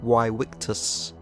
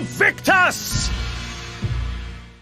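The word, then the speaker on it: vae victis: which sounded the best most modern Latin scholars believe that ancient Romans would have pronounced that something like why wictus but it's hard to know for sure Honestly though while why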